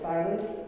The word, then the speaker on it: silence: sing inside lens so make sure that the second syllable of silence is not as loud otherwise it sounds a little weird sometimes it's not even